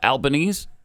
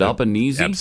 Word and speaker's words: Albanese: So, yesterday, President Trump hosted Australian Prime Minister Anthony uh Albanese. How do you say his name? Is it Albanese?